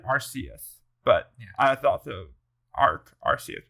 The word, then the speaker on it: Arceus: Arceus. I think is what they say. Yeah, the C sounds like a K. All right, so Arceus.